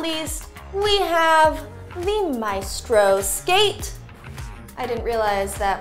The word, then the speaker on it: Maestro: on the box and I said Maestro, and Kim Manning corrected me and told me it's pronounced Maestro.